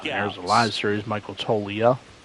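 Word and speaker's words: Toglia: There's a live series, Michael Tolia. I think the G is it looks like the G is silent.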